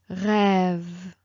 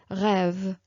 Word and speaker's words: rêve: So let me tell you, for example, rêve, même. It's like you prolong a little bit more the sound, okay? It's not like rêve, rêve, même.